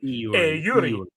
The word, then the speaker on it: Eury: You were trying to pronounce it correctly. Eury. Because they don't have, and this is my favorite, they don't have diphthongs in Spanish, where you put the